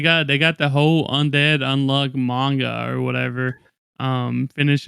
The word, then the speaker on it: Undead Unluck: And it's called Undead Plus Unluck, but the plus is silent.